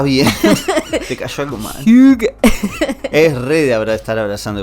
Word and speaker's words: hygge: Para que la quiero pronunciar bien porque... Hygge. ¿Conoces? ¿Estás haciendo arcadas? Está bien. Te cayó algo mal. Hygge.